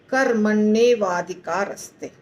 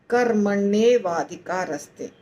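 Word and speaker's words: कर्मण्येवाधिकारस्ते: कर्मण एव अधिकार ते चारों का संधि है तो क्या बन जाता है कर् मने वाधिकारस्ते कर्मण वाधिकारस्ते तो यदि हम इसको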